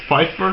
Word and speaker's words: Pfeiffer: It's Pfeiffer. Okay, but Pfeiffer is a name based on this German dialect, and the same name exists in Dutch.